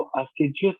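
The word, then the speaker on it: assiduous: असाइडियस जो है वो हमारे पास, वैसे इसकी प्रोनाउंसिएशन जो है वो अस्टिजियस होगी, लेकिन असिडियस चलें, समझ लीजिएगा।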